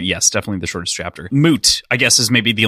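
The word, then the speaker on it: Mudt: would you guys make of of moot well his name is spelled m-u-d-t so I mean it kind of looks like immediately you're like mud and that kind of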